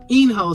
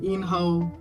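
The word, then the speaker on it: In-ho: And after the first vote, this is where we are introduced actually into the character himself, Enho. Sorry, I pronounced it wrong the first time. Enho.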